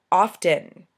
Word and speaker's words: often: actually talk like that often okay i pronounce the t there's a t in often so i can only assume that it is meant to be pronounced often dog february syrup uh